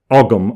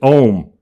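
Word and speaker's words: Ogham: pre-existing alphabet called uh the english call it ogum o g h a m but the correct pronunciation is om so the language that existed of the druids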